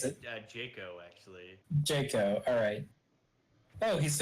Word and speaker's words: Jaco: Well, I'll let you make one because they are Jacko. Or Jacko. How do you, Jeffy think it's first, Jocko. how do you pronounce it? Jaco, actually.